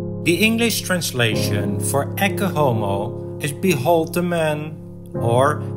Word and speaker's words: Ecce Homo: first about the pronunciation I am choosing for the Latin pronunciation EO instead of etomo which is more often used in English one of the best